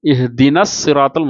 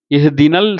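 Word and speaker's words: اهدنا الصراط: இஹ்தினஸ் சிராத்தல், அல் இருந்தாலும் நம்ம என்ன செய்கிறோம்? இஹ்தினல் சிராத்துன்னு ஓதுறது இல்லை. இஹ்தினல் அப்படின்னா ஓதுறோம் இல்லை. இஹ்தினஸ் சிராத்த, இஹ்தின சிராத்த, அந்த நூன் ஃபத்ஹா வந்து நேராக போய் இந்த சாதில் போய் சேர்ந்து இஹ்தினஸ் சிராத்த அப்படின்னு ஓதுறோம். நஸ் அப்படின்னு ஓதுறோம்.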